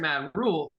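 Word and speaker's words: Matt Rhule: When they hired Matt Rule, you can say it.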